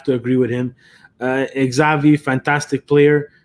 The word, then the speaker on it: Xavi: agree with him uh xavi fantastic player it took me like three years to learn how to pronounce his name properly because who knows uh the x made the name zavi that's a that's a